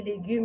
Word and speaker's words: légumes: What is the silent letter here? The silent letter is LS. Why? Because it's the last letter of the word. When an S comes at the end of the word, it will be silent.